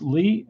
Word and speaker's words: Lea: versus Charlie Lee written spelled le8 but it's pronounced Lee and we're right about to get started let